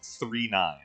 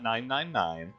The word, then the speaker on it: 999: And for the record, it's pronounced 39, not 999, not 999, it's 39.